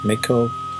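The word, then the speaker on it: Mikołów: Actually, a year and a half ago I found myself in Poland in a town called McCullough, pronounced Mikow, not far from Krakow.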